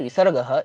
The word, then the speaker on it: विसर्गः: देखिए जैसे विसर्गः ये जो शब्द है इसमें जो विसर्ग का प्रोनाउंसिएशन रहता है उसको ह के तरीके से उच्चारित किया जाता है। सही तो आप बोलेंगे तो यही ह के तरीके से ही बोला गया विसर्गः है ना?